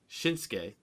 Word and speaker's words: Shinsuke: Shinsuke. That's how you pronounce it.